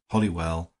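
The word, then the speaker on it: Holywell: to the fact that it was pronounced hollywell by the most ignorant and old-fashioned of the poor but it is spelled wrong and pronounced right do you mean to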